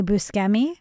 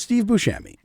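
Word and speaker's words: Buscemi: Are you going to say Busi? No, it's Steve Bushami.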